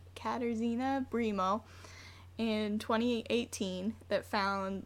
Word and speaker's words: Katarzyna: say her name wrong katarzyna it's like Catarina but with Izzy katarzyna primo in 2018 that